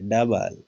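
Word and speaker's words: double: डबल, ओ silent है।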